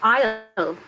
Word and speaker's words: aisle: Không có S đâu thầy.